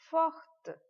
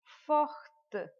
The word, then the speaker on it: forte: So it would be elle est forte. Forte. We will pronounce the last letter de here.